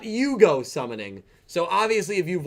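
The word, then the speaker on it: 融合: a character fusion summonings, they say Yugo Shokan. Obviously, Shokan meaning summon and Yugo meaning fusion. However, Yuo and everyone pronounces this as fusion, the English way to say the word instead of Yugo.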